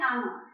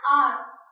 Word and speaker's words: hour: जैसे I will finish this work in an hour. मैं 1 घंटे में ये काम फिनिश कर लूंगी। So an hour, H यहाँ पर क्या है, साइलेंट है।